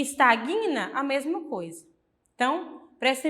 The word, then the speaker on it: estagna: e Sagna será não O correto é falar repugna resina estagna E por quê Porque